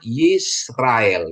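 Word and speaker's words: יִשְׂרָאֵל: dikasih dia Sere dia jadi e ya jadi bacanya yisrael Ya Bene yisrael ya jadi putra-putra atau anak-anak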